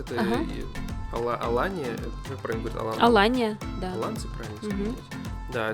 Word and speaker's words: Алания: Алания, как правильно говорить? Алания, да.